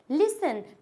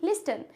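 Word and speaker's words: listen: speaking कराई थी मैंने बोला लिसन उसको वीडियो में बार-बार क्या बोल रही थी लिस्टन लिस्टन लिसनिंग उसको क्या पढ़ रही थी वो टी भी उसको ऐड कर रही थी उसमें जब मैंने इसको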